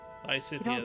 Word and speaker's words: Lysithea: Lysithea, that's how you say it.